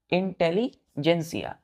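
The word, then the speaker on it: intelligentsia: एस आई ए इंटेलीजेंसिया अब उसका प्रोसन जब हम करेंगे बच्चों तो आप देखिएगा जी एन टी है यहां पर लेकिन हम प्रसन क्या कर रहे इंटेलिजेंसिया तो जन सिया यहां पर टी बच्चों य साइलेंट हो जाता है टी क्या होगा साइलेंट हो जाता है प्रोनंसिएशन में तो इंटेलीजेंसिया पढ़ते हैं बच्चों इसका मतलब होता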